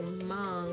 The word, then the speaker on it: Hmong: from among people now when i say mom you probably think it starts with an m but it's actually spelled like this h-m-o-n-g now the story we're